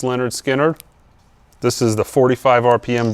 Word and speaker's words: Lynyrd Skynyrd: Lynyrd Skynyrd's, pronounced Lynyrd Skynyrd.